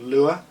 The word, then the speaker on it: Lua: functions uh in a language called lure that's spelled Lua and lure in fsuipc